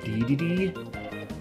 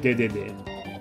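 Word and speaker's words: Dedede: Alright, I guess it's English, it's like DDD. Pretty sure in Japanese he's like Dede, but, pardon me.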